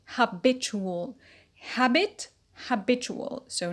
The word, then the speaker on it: habitual: loin rule ual suffix the stress shifts to the penalty and becomes habitual habitual habit habitual so not